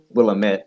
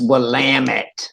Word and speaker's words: Willamette: i said i said we'll admit and it's like it's willamette yeah anyway however they pronounce